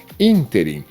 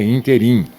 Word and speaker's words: ínterim: Ínterim não é interim.